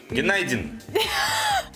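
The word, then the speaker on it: günaydın: Геннадин. Гена. Иди. Геннадин. Это звук очень между У и Ю. Геннадин. Почти good night.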